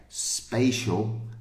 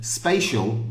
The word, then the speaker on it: spatial: important for you so A and E spatial and special a okay if we take off the sh bit it's spay and SP okay spatial just means you know